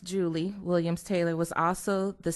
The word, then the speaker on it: Julia: My great-grandmother, Julia, pronounced Julie Williams Taylor, was also the sister to the late Elbert Williams.